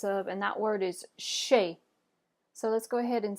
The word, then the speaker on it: chez: or the business of and that word is shape so let's go ahead and say shape good